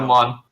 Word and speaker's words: Erdemon: pronounced Erdemon or Erdemon? I gotta know. Erdemon. Thank you. Oh my gosh. Like Pokemon.